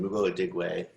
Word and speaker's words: Mugo Adigwe: Mugo Adigwe, hopefully I pronounced your name correctly. Please, yeah, you actually did. Great job, because not everyone did that right.